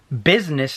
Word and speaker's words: business: I find pretty interesting you know how we spell business it looks like it says busyness right busyness be us I and es now business that I is silent right now if we